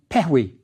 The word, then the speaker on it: pehwi: The two lions are pronounced pehwi. It's the dual. It means strength.